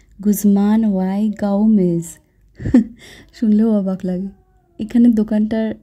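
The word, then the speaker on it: Guzman y Gomez: যেহেতু এটা মেক্সিকান দোকান, নামটাও মেক্সিকান, আবার প্রোনাউন্সিয়েশনটাও এরকম হবে, গুজমান ওয়াই গাউমেজ।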